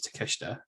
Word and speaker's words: Takeshita: Well, apparently, we couldn't pronounce his name last week. We've been reliably informed that it is Takeshita.